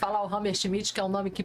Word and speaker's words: Hammershmidt: Entonces empecemos por ahí, pero preséntate, soy rammer schmit, me gusta decir Hammer schmit, que es un nombre